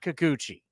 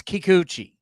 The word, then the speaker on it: Kikuchi: It's not kikuchi. It's kikuchi. K E Y dash capital K capital O capital O dash lowercase C H E Kikuchi. That's how it's pronounced. Everybody keeps calling him Kakuchi.